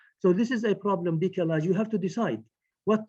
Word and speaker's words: décalage: recently, which is called décalage. It is a French word, décalage, décalage, the way it is pronounced in English, in French.